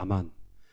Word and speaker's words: 아멘: 아멘 하는 건 이게 원래 제가 원문을 읽는다 그러면 아만이라고 읽을 것 같아요. 아만.